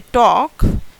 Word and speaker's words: talk: So when we say talk, we are not actually speaking this word L.